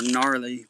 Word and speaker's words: Narleigh: So I don't know what possessed me to name her Gnarly, but I just thought it was funny. And she, but it's spelled Narleigh.